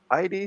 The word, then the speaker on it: id: ID Software Inc.